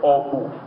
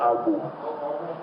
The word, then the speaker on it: Obu: The third one is, I think I was taught how to pronounce this inside the Obu, not Abu. Okay, Obu 1.